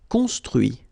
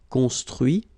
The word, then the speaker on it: construit: Construire, construit. Cuire, cuit. Détruire, détruit. Instruire, instruit. Okay, so you can notice that even if I put this final T, so as usual, I don't pronounce it. Okay, conduit, construit, cuit, détruit, instruit.